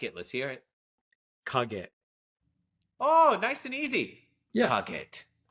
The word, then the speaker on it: Kage: Wait, so what's the second syllable? Is it a G-E-T? Is there K-A-G-E. Kage. Oh, okay, got it. So there's no T at the end.